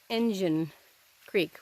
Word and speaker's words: Engine Creek: is why it's called engine Creek but like I said it's spelled with an i so people mistake it for Indian but it's not its engine all right that's the